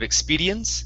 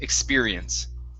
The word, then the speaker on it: experience: uh this is experience give me a good r here instead of expedience experience experience very nice next up